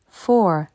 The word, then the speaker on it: four: du haut three three four four attention il ne faut pas prononcer le O U comme ou en français four five five le